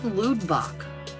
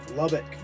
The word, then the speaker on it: Lubbock: Where's Ludbach? Lubbock.